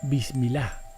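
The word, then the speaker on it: بسم الله: árabe sobre la tela se pronuncia como bismil un conjuro para atrapar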